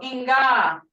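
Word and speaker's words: Enka: Inga, I've seen is spelled E-N-K-A, like I have here, or E-N-K-V. Either way is good. A lot of times the A and the V are interchangeable or intermixed in the Muskogee language.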